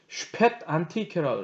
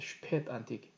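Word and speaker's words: Spätantike: 독일 발음으로는 이렇게 쓰거든요. 중간에 있습니다. 슈펫 안티케라고 합니다. 슈펫 안티케.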